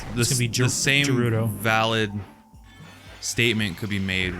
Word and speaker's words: Gerudo: Like Legend of Zelda fandom, the same thing with like Gerudo or Gerudo. I'm calling it Gerudo. I say Gerudo because GE.